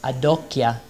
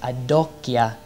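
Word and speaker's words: adocchia: out that the italian this look that dante says to virgil is adokia which rhymes with janokya the knees he's making a rhyme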